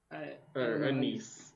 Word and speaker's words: anise: and so I said black Anice anise that's how you say it yeah gotcha the black